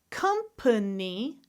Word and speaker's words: company: What about words where I could have 3 syllables or 2 syllables? Again, it's the question of schwa or no schwa. I'm going to go down the list. Different. Company. Family. Remember, both of these are correct.